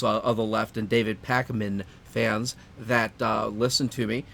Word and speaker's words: Pakman: David Pakman, okay, for all those of the left and David Pakman fans that listen to me, and there are